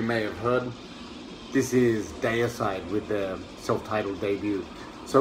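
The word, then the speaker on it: Deicide: mentioned in previous videos disputed pronunciation about this band the other side day aside depends on how you say it as i said i grew up in australia so i say day aside but it depends on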